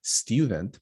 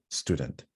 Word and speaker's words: student: I know that it might sound like student, but it's actually not. Student.